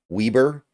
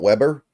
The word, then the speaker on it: Weber: the ball first by the way it is pronounced Weber not Weber Munos is the quarterback he is taking the